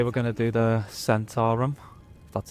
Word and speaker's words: Zhentarim: So today we're going to do the Centaurum.